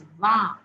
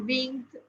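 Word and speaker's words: vingt: and Ving GT is please pronounce as v v not win not wi not Wing but V okay the GT is silent the GT is is silent now if you know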